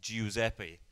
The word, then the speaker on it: Giuseppe: guy called giuseppe and for people that speak italian know how to pronounce italian it's actually spelled giu so to pronounce it it's it's giuseppe and i was going